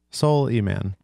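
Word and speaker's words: Souleyman: Soul E-Man. It's like Soul Man.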